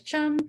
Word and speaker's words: chum: We've got our chum salmon, which rhymes with thumb. So there's chum, thumb, and then there's sockeye.